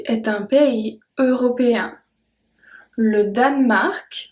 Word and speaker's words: Danemark: Le Danemark, so we don't pronounce the E in the middle if you listen well. Le Danemark, we don't say le Danemark, we say le Danemark, est un pays européen.